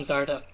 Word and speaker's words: Zardeth: Hi, I'm Zardeth. If you don't know how to pronounce that first name, it's Zardeth.